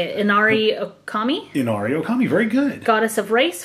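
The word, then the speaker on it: Inari Ōkami: Inari Okami, very good.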